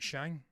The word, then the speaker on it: Shang: They have a lot of choices with Shang-Chi, and that's how I pronounce it, Shang.